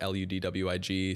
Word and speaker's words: Ludwig: It's actually pronounced like Ludwig, so similar to Ludwig van Beethoven.